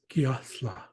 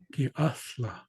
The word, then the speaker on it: Giathla: So I've looked in various dictionaries, and what I found is that it's not an eh sound, it's ah. So that would be represented by an E. So I would say the pronunciation is Giathla. Giathla.